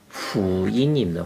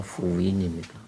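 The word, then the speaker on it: 福音: 이게 한국산이 아니고 이제 외래어인데 원래 이 복음의 그 원어는 어떻게 되냐면 후인입니다. 후인. 제가 중국 발음으로 후인입니다.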